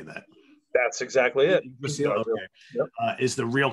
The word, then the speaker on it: Yggdrasil: Return to, and I'm going to mispronounce it, Yggdrasil. How do you say that? That's exactly it. Yggdrasil, okay.